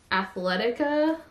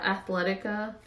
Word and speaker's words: Athleta: Then, as you guys saw, I got this really cute piece from Athleta, or yeah, Athleta, Athleta, Athleta.